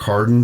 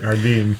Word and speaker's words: Hardin: San Felipe Let's uh let's bring in Hardin he's our mint 400 winner and uh have